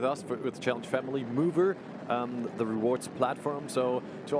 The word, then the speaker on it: Muuver: So it's spelled MUUVER, Mover.